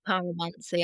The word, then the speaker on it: pyromancy: Am I pronouncing that correctly? Is it pyromancy? It's pyromancy.